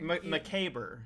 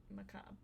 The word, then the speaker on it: macabre: Macabre. You said it wrong. Macabre. It says macabre.